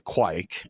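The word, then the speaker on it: Kveik: it's spelled kve i k you know the quake is the the pronunciation that youtube told me you use and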